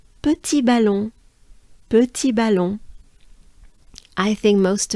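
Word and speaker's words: petit ballon: might know petite so petit balon let's let's break it down we need to pronounce the uh sound we need to move our jaws and mouth forward it's a forward movement of your jaws and your mouth let's try together with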